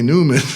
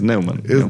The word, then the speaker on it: Nauman: And I never heard of him, so I was like, it must be Newman. Newman, yeah. No. So how it is Neumann.